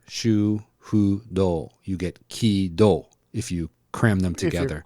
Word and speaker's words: KID: So if you put ki, shu, hu, do, you get ki-do if you cram them together. If you cram it, yeah. Kido. So the Japanese pronunciation when we say kid is actually kido in Japanese.